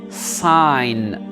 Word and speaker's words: sign: sai mme saïda lettre g elle n'est pas prononcé en design on va directement au n sign très bien ici pareil d'israël le gênait pas